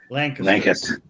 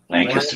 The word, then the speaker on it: Lancaster: And it's not Lancaster, right, Skipper? Lancaster. Lancaster, not Lancaster. Why you say it like that? Lancaster's for you city In folk. Texas, we would say Lancaster.